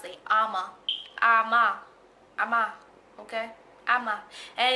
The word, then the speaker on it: Ama: And it's A-M-A. That's how you pronounce it. Ama.